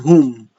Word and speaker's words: who: So all that you have to remember, if the WH is preceded by a letter O with the who, whom, and whose, you will be pronouncing the H sound.